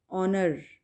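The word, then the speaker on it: honour: एज की sound नहीं होगी, ऑनर, तो एज साइलेंट लेटर है, ठीक है, ऑनर।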